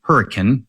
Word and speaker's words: Hurricane: whether or not you know the name of the city is supposed to be Hurricane, even though it is spelled exactly like hurricane.